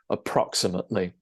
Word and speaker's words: approximately: And you stress the second syllable there, approximately.